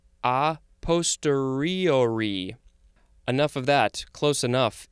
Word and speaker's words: a posteriori: It is, oh, there's a couple of ways to pronounce this. It is A posteriori. I think this is, it looks Italian to me. It says it's Latin. How do you say this word? A posteriori.